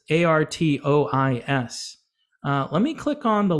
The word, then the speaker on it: Artois: And Stella Artois, or Artois, I don't know how to say it. It's Artois.